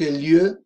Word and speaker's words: lieu: Culture et société, quelques lieux de vacances francophones. Quelques lieux. Quelques significa algunos, algunas. Quelques lieux, algunos lugares. Lieu, lieu, poco difícil la pronunciación. Lieu, lieu, es una sola, en un solo golpe silábico.